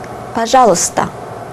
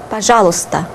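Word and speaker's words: пожалуйста: the previous lesson and pajala pajala which is the Russian for please and read it carefully P if you read it fast you do not pronounce these two letters and you can also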